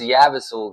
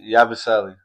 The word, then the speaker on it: Yabusele: Like, I'd rather have this Yabasul guy or whatever. I don't know how to say his name. Yabusele.